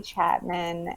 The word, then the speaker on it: Chapmon: my name is chapman and the last name is felt a little bit different it's c-h-a-p-m-o-n and now you say it like m-a-n-n and then you can